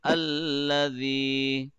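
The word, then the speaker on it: الذي: So first of all, say alladhi. Alladhi. Dal should be softer, man. The tip of the tongue will be touching edge of the upper tooth gently and softly.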